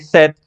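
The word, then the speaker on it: cet: problema simplemente se como se pronuncia hasta la t set pues sonaría set Vale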